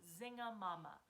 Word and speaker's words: zinga-mama: And so we're going to be really, really pronouncing all of the words. And the words we're going to be saying are zinga-mama.